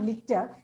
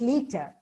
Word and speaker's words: liter: litter I'm sorry liter it's not litter it's liter reiper sashes stomach stupid